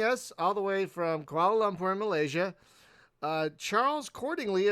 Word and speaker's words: Kuala: It's Kuala, not Kowala, or however they actually spell koala. It does sound similar the way I say it.